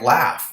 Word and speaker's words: laugh: Or a word like laugh. If you try to read that phonetically, you're never going to get there, right?